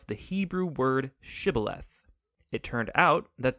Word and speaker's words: shibboleth: pronounce the Hebrew word shibboleth it turned out that the ephraimites had grown up pronouncing that word differently so instead of saying shibboleth they would say sibileth when that happened the